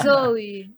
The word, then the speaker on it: Zoe: E tem que ser a pronúncia Zoe.